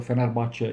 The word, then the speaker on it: Fenerbahçe: And the way Fenerbahçe played, or Fenerbahçe in Turkish, that's how you say it, played against Trabzonspor was amazing.